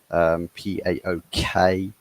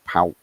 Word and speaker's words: PAOK: PAOK or PAOK, however you want to pronounce it.